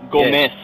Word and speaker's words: Gomez: No, Gomez. Z is pronounced an S.